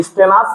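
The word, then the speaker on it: stannous: থেকে যেহেতু আসছে তাহলে এটার উচ্চারণ হবে কি স্টেনাস আর হচ্ছে গিয়ে কি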